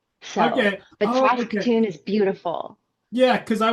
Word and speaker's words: Saskatoon: Saskatoon, that's how you pronounce it.